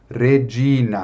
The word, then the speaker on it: Regina: Então, Regina.